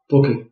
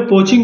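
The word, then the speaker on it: poaching: पोकिंग कई लोग पोचिंग भी बोलते हैं लेकिन पोकिंग इज a good is the right pronunciation.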